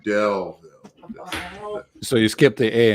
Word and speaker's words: Daleville: it was at the Delville con. So nice. Okay, cool. Good old Delville con. You don't pronounce Dale with a long A sound. It's more like Del, D-E-L-L.